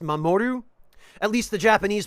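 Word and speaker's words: 守: uh this is the kanji for protection it's pronounced mamoru at least the Japanese pronunciations are oh and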